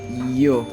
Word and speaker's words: yo: number 6 here as you okay that's they yo so also by some Spanish speakers they may tend to use it or to pronounce it as joke but it's not it just yo and for some English